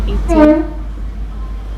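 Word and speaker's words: eighteen: Okay, the first one you say what 18, you put a stress on the second syllable say 18.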